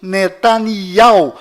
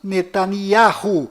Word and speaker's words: נתניהו: Bom, voltando ao assunto, fora de Israel, o nome deste primeiro-ministro é pronunciado Benjamin Netanyahu, mas dentro de Israel, o nome dele é pronunciado Benjamin Netanyahu. Confira.